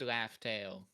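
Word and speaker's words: Laugh Tale: Confirming it's pronounced Laught Tail.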